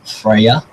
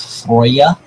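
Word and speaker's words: Freyja: you might recognize this as the daughter of Freya or more properly pronounced frya uh snot or snotra as she is known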